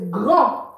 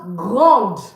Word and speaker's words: grand: The D is not pronounced. Grand. But when it's feminine, it's pronounced grande. And what does this mean? This means big. It also means tall. Okay, you see that? It means big. It also means tall, grand. So you see, for the masculine, we don't pronounce the D. We say grand.